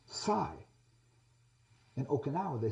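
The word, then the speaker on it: psi: the the Greek letter P in English it's pronounced Sai in Oka they say Sai but if you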